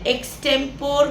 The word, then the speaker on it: extempore: நம்மளில் பல பேர் இதை எக்ஸ்டெம்போர் அப்படின்னு சொல்லுவோம். இதனுடைய எக்ஸாக்ட் ப்ரொனன்சியேஷன் எக்ஸ்டெம்பரி.